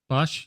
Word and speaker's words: Bosch: Bosch, is it Bosch? Bosch, yeah.